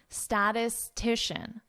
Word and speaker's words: statistician: Could be a difficult word to pronounce. Statistician. Statistician. So notice how I connect this.